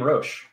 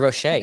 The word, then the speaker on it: Roche: You say my name, Roche. Every time? I'm American. It's Roche. I could call you Roche. So it is Roche with a hard CH into it? Yeah, buddy. Like the bug?